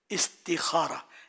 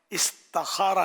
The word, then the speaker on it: استخارہ: استخارہ ہے نا, اس کا صحیح تلفظ استخارہ, استخارہ نہیں ہے.